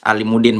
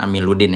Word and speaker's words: Alimuddin: Tadi sempat salah sebut ya, saya Alimuddin bukan Amiluddin ya.